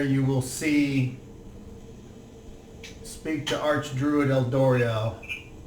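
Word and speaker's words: Eldorial: There you will speak to Archdruid Eldoriel. Eldoriel? Yes. I'm going to spell that E-L-D-O-R-I-A-L.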